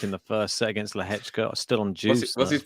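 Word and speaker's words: Lehečka: That's not how that's spelled either, but that's how it's said. Lehechka.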